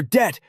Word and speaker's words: debt: The language where kernel is pronounced kernel, where debt has a silent B and where the word set has over 400 definitions.